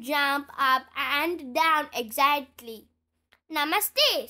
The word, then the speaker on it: Namaste: rabed the children jump up and down exactly Namaste say is Miss Rabbit putting her fing putting